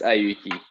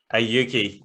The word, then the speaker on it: Auki: Please, it's just pronounced Auki. Auki.